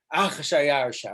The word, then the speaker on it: Achashverosh: So we add an aleph before just so you can breathe. You go, Achashverosh, Achayarsha, or Achashverosh.